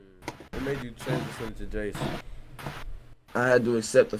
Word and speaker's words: Iayze: It's pronounced Jace, bro.